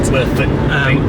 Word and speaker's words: Werfen: That's how you say it. Werfen.